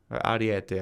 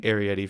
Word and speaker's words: Ariete: Ariete, I always say it wrong. I've been saying Arietti for years since I was playing Armored Warfare, okay?